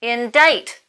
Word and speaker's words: indict: Indict. To speak towards. Now, the in isn't so important here, but the dite is, because despite the pronunciation, you don't spell it D-I-T-E. It's that same root, dict.